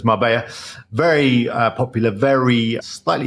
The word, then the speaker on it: Marbella: people may call it Marella it's Double L obviously in Spanish that's pronounced with a Y sound so it's Mara very uh popular very